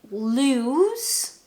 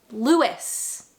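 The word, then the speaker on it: Lewes: To me, that looks like lose. Okay. I'm an English speaker that looks like lose. However, people tell me it is pronounced Lewis.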